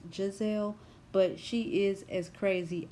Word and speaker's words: Gizelle: And yes, I called her Gizelle because she spells her name with a G, and it kind of looks like it's pronounced Gazelle, but it's pronounced Giselle.